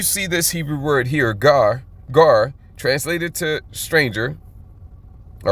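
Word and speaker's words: גר: H1616, gar. And I do believe that is the correct pronunciation.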